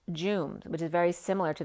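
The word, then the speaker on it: Djoum: jamal became friendly with the directors of the illuminati headquarters at joom j-o-o-m it's spelled d-j-o-u-m but it's pronounced jooms which is very similar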